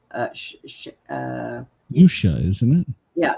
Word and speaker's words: Usha: Usha, isn't it? Yeah, Usha.